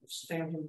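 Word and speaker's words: Staunton: of the town of Stanton, Virginia, which is pronounced differently from the way it's spelled.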